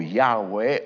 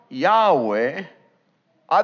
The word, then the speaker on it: Yahweh: al Castellano es Jehová posiblemente la pronunciación haya sido más cercana a algo como Yahweh o yah ustedes quizás han tenido